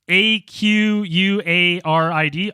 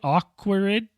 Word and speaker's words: Aquariids: be able to uh I think it's called the aaids aquaid media shower is that it Dan you're laughing pronounce that perfectly pronouncing a q u a r i d aquarid aquid aquarid aquarid aquariids aquarid I'm GNA take [ __